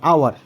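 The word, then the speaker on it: hour: দেখো এখানে আওয়ার অর্থাৎ এইচ এর উচ্চারণ কিন্তু আ হয়েছে এইচ এর উচ্চারণ যখন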